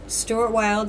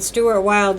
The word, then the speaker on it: Stuart Wilde: And Stuart Wilde, his name is spelled S-T-U-A-R-T, and Wilde has an E on the end, W-I-L-D-E.